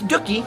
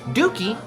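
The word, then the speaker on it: Dooky: here Leah Chase dockie herself and it is doie we looked it up cuz I didn't want to call somebody dookie but that was not the correct pronunciation as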